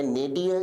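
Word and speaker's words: nadir: विद्यार्थी शब्द के प्रोनंसिएशन या उच्चारण पर विशेष ध्यान दें। उच्चारण है नेडियर जिसका अर्थ होता है निम्नतम बिंदु।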